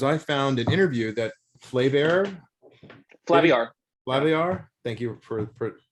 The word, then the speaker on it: Flaviar: So one of the things in doing that in my little deep dive is I found an interview that Flaviar, thank you for pronouncing that correctly.